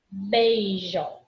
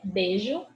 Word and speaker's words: beijo: Beijo. Ditongo. É I, vogal. É beijo, beijo. O I fica bem apagadinho.